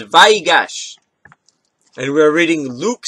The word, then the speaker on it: Vayigash: and grant you peace I do believe I figured out how to say this it is VY gosh and we're reading luke